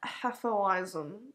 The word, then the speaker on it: Hefeweizen: and that beer was called the yard lion atholism sorry for your pronunciation it's like a beer comb recently they